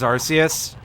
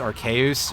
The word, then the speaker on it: Arceus: if they were just like one-offs for Legends Arceus or I I think the English pronunciation is actually supposed to be Legends archaeus or something but I don't care it's been